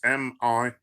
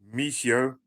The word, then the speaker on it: Michio: That's Michio. And Kaku is Kaku. I'll spell it again. Michio, that's Michio.